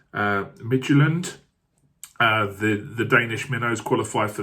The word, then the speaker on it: Midtjylland: I think you say it as Midtjylland.